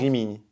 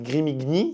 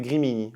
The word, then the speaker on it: Grimini: Grimini. En Grimini. Corse, en fait, à Ouais, la fin, toujours c'est. Vous dites Grimigni, mais nous, par exemple, le GNI, on l'entend pas, c'est Grimini.